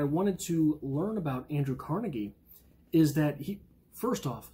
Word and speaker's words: Carnegie: the name of Andrew Carnegie. Many people say Carnegie. I am scarred by my high school freshman history teacher who pronounced it Carnegie. So I unwaveringly pronounce it Carnegie when I am talking about him.